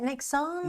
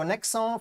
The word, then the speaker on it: Nexans: say it Nexans without the S? Uh without the S. So, Nexans, French company, uh Prysmian, uh despite the name, Italian.